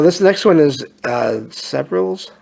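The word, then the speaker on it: Severalls: next one is uh severals Hospital s it's spelled like several but the s-e-v-r-a-l-l-s hospital and that's in England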